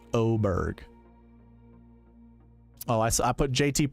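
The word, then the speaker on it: Åberg: cutie look him up ludvig Aber Berg but it's pronounced oberg oh I I put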